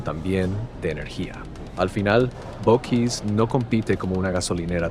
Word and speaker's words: Buc-ee's: Porque a primera vista no es tan obvio, se dice Buc-ee's, así, tal cual, Buc-ee's. La primera parte suena como buck, como la palabra en inglés para un ciervo. Y la segunda parte, is, como el final de keys.